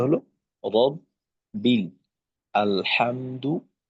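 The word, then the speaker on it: رب: র বা জবর রব, বা লামজের বিল, রব, বিল, তো এখানে রয়ে জবর আসছে, র মোটা হবে, রব বা লামজের বিল।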